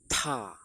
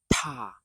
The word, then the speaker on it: 她: They're all pronounced as ta with a t. Ta with a puff of air.